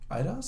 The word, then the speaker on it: Eidos: Eidos?